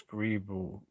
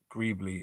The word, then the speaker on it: Greebly: It's how do you pronounce Greeble? Greebly. It's Greebly anyway. I always say Greeble because the LE is like an all sound. But it is Greebly.